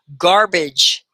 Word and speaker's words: garbage: garbage garbage garbage yeah that ja at the end it's spelled g-e but it kind of sounds like a j garbage garbage garbage excellent okay